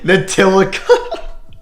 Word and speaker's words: Ntilikina: And I have them taking Frank Ntilikina. Oh my god, I couldn't even say his name right. Ntilikina. At least I didn't pronounce it how Curry pronounced it.